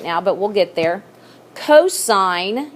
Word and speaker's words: cos: but we'll get there cosine it's abbreviated with cos and just because on your calculator button it says cos don't call it costs okay you're going to know that that stands for cosine and that's adjacent over